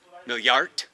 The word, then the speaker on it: Milliarde: Is it Milliarden? Is that billion? That's No. German. So, like, yeah, it is. So, million is million, and then milliard is billion. Milliard?